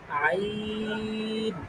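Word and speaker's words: ع: বলেন এটা ওই যে গলার মধ্যে নিয়ে শক্ত করে চাপ দিয়ে উচ্চারণ করতে হবে, আইন, বলেন আইন আইন আইন না, আইন আই, হ্যাঁ, গলার মধ্যে নিয়ে আর শক্ত করে আইন।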